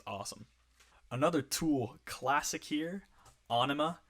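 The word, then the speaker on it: Ænima: another tool classic here anima yes onoma that's how you pronounce it i watched a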